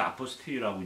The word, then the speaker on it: apostille: 이게 프랑스 말이라서 아포스티유라고 이제 발음을 하죠.